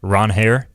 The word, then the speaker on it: Ranger: known as uh or his official pronunciation is Ron Hair.